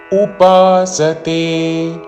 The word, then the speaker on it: ఉపాసతే: ధ్యాయంత ధ్యాయంత ఉపాసతే ఉపాసతే ఉపాసతే అని ఊతో పలకకూడదు.